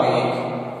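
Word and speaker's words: ङ: बोलते हैं, यानी कि बहुत से लोग इसका ड उच्चारण करते हैं, वो अशुद्ध उच्चारण माना जाता है। इसका शुद्ध उच्चारण रहेगा ंग, यानी क, ख, ख, ख, ंग, अर्थात ड इसका उच्चारण नहीं किया जाएगा।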